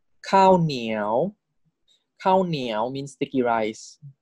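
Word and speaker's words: ข้าวเหนียว: So high class live syllable default tone is tone four. Niao, niao. This is cow niao.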